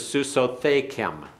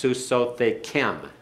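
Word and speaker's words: סוסותיכם: Your masculine plural mares is Susothekem. Susothekem. And excuse me, I put the accent on the wrong place. That's Susothekem. Susothekem. The accent's on the last syllable.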